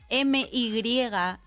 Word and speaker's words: my: Most of my English teachers at school spent many years telling me that M-Y is pronounced my and not me.